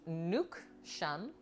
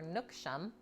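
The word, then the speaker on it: nước chấm: Each Vietnamese cook has a take on this ubiquitous sauce, pronounced nuc chum, or nuc chum.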